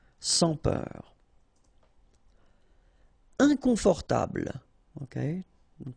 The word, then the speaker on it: sans peur: Sans peur. Okay, pronounce the final R, E-U-R, heure, peur. Sans peur. Don't pronounce the final S here. Sans peur.